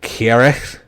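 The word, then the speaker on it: Cyhyraeth: say this right but i think it's pronounced chiara which is uh it's the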